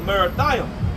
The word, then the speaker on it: Merathaim: Verse 21: Go up against the land of Merathaim. That's how you pronounce it in Hebrew as well.